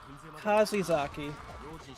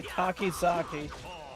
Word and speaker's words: Kakizaki: Alright, Kaguya, Kazizaki. Kazizaki. No, who gives a shit? I'm just gonna say Kakizaki. Because that's apparently how it is pronounced.